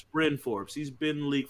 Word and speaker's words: Bryn Forbes: say his name right it's brynn forbes learn the names of the players brian forbes that's what they say r-y-n it's bryn forbes he's been in the